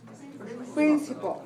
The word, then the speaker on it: principle: noun and it's and we have three syllables p r i n dot c i dot p l e prin paul principle and syllable stress code is three one that's one right so a principle is